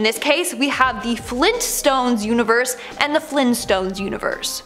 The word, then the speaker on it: Flintstones: No, apparently it's the Flintstones with the hard T.